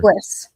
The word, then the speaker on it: Peguis: Peguis. Peguis. Yeah, Peguis. Yeah, so think penguin, but Peguis. Exactly what I was literally trying to calculate that in my head. Penguins, Peguis.